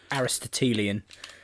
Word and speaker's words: Aristotelian: I was more Aristotelian. How do you say that word? Aristotelian.